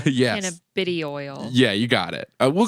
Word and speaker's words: cannabidiol: Yeah, cannabinoid, or however you pronounce it. Cannabidiol. Yes. Cannabidiol.